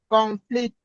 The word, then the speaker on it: conflict: conflict, No, you have to raise the stress on the first syllable.